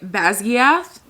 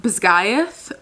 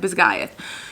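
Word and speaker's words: Basgiath: In my head, I've been saying Bazgath because of the I A th Basgath. She said it's pronounced Bisgayth. Hopefully, I could keep that like in my head. Bisgayth.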